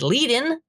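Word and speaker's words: Kuehnelt-Leddihn: His name is Leadin. I have now learned pronounced that way because Spoon showed me a rare lecture of his, because he died a long ass time ago.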